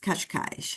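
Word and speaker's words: Cascais: kashk but in uh in Portuguese it's pronounced kashkash so the kashkash area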